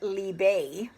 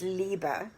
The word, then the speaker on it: Liebe: Now, they pronounce it Liebe, but in German, it's Liebe, which means love.